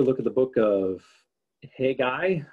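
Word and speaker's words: Haggai: at the book of hey guy again i had a professor who had mispronounced this one as well and called it hegei i'm not sure why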